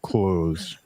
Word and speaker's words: clothes: by saying clothes because the th is there and it makes a sound but I normally just say close close but yes parallel